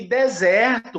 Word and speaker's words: desert: E deserto, como do Atacama, do Saara, é a primeira que é tônica, é desert.